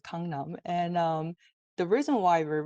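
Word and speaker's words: 강남: it's come numb and that's what it's called Kangnam and the reason why we read it like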